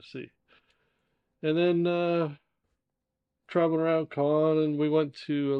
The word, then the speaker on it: Caen: So, but anyway, we spent about, I think it was 8 days in Caen, is how the French pronounce it.